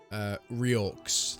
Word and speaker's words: Reorx: Is it Riox? Reorcs, like. Reorcs. Yeah, it's like orcs. Yeah. Like Reorcs. orcs, but like they've regenerated.